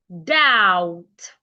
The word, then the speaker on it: doubt: Doubt. The B is silent.